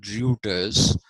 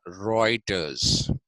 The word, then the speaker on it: Reuters: which is heroics because in German EU becomes oi okay like I was giving you the example of Reuters the news agency r e u t r s but it's not pronounced rutus it is pronounced reiters